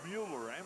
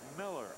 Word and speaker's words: Mueller: He spells it as if it should be pronounced Mueller, M-U-E-L-L-E-R, but he pronounces it Miller, M-I-L-L-E-R.